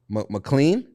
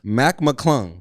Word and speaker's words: Mac McClung: name correct uh All-Star Weekend Dunk Contest champ McLean Mack McClung Mac McClung Mac McClung Mac McClung excellent performance facts I